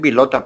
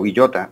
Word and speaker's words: Villota: Pues en Estados Unidos me dicen Vilota, pero Villota. Aquí en Colombia es Villota.